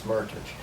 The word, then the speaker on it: Meritage: A Meritage, actually, yes, a Meritage rhymes with heritage.